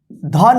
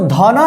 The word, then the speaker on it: धन: किसी भी अक्षर में जो लास्ट अक्षर होता है उसमें अ का साउंड उच्चारण नहीं करेंगे। जैसे इसको धना नहीं पढ़ते हैं, क्या पढ़ते हैं?